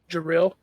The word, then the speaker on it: Jaril: Jaril. Am I pronouncing that right? Joril? Yeah. Jaril? Jaril. Okay. Sounds very similar to Jared.